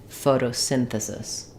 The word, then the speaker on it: photosynthesis: So for photosynthesis, we have secondary stress in the beginning. Photo, we use a flap T here. The T sounds more like a D, photo. We still have a clear O in the second syllable. And then we have main stress on syn, of synthesis. Letter Y says the I vowel, synthesis.